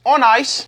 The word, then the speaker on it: Onnais: Um, this company is pronounced on ice.